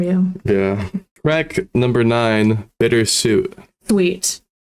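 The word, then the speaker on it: Bittersuite: yeah crack number nine bitter suit sweet oh it's bitter sweet it's just spelled differently yeah it's spelled like the sweet like a like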